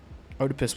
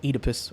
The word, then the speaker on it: Oedipus: I don't know what fate Oedipus was talking about, but... Or Oedipus. Oedipus. Oedipus. Everyone pronounces it differently, bro.